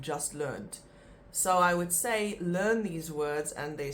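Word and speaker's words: sê: so let's look at the first word say say is very important because that is the word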